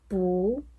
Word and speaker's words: 不: So bù has to be heard twice bú bú qù do you understand? do it again No (bù) when there are four tones bù to be